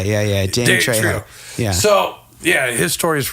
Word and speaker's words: Trejo: Did I say his name wrong? You said Drio. I was like, who is this guy? Yeah. Danny Trejo.